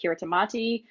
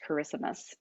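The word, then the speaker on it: Kiritimati: is how it is pronounced so most people pronounce it kiritamati so you may have heard it referred to as that but it is actually pronounced charismus so um but i'll take either so this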